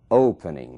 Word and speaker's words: opening: a letra whispering Open Opening mesmo caso Open ali na primeira sílaba é que está a força dessa palavra aqui está a sílaba tônica Opening não dobra então